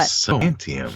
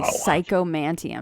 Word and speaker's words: Psychomanteum: But Psychomanteum. Is it spelled like it sounds? Yep, exactly. Psychomanteum.